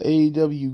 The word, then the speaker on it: AEW: into with with aew you gotta say it like how MGM said it uh aw Grand Slam here uh